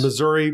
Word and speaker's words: Missouri: to the locals so of course Missouri Missour that depends on where you're at in Missouri Nevada NADA I'm what